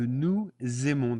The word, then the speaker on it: nous aimons: So here you notice that the nous aimons, there's a Z in there that appears when we actually pronounce it.